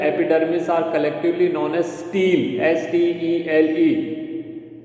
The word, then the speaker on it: stele: S-T-E-L-E pronunciation is same, but the spelling is different.